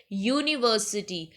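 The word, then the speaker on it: university: Sorry vowel के साथ बट इसका जो साउंड है वो कसोनेंट वाला है यूनिवर्सिटी वाई का साउंड आ रहा है जो कि एक कंसोनेंट का साउंड है।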